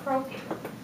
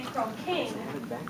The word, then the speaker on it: croaking: Which syllable is stressed in croaking? The last one. The first one. We don't say croaking, we say croaking.